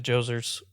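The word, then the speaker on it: Djoser: Let's go back to Joser's pyramid. The step pyramid. I like the name Joser. Uh yeah, spelled with a D. It's silent.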